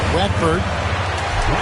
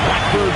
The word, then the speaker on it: Watford: Watford. Rhymes. Rhymes with dimes.